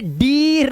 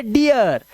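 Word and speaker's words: dear: इसीलिए अब इसे डीर नहीं पढ़ते, इसे पढ़ते डियर, इसे टियर, नियर, चियर, फियर।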